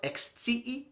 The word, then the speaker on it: ekscii: And I use that sentence simply because it has three letter I's next to each other. So make sure to pronounce clearly. You might find yourself with that. Mi volas ekscii ion.